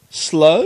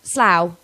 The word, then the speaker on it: Slough: Slur- Slough? Slow? No, Slough. No, I know it's. But if you said rough, that's spelled exactly the same way as Slough isn't there a is.